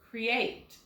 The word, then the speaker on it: create: And we're going to put the accent on the end of this word, create. Second syllable has the accent.